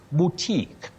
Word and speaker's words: boutique: You say boo. Boutique. Boutique, not boutique. Yes, at Betty Rotich of Kitale.